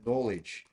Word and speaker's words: knowledge: Você quem falou knowledge. Knowledge é assim, tá? Conhecimento. Você não pronuncia o K, ok? Knowledge, conhecimento.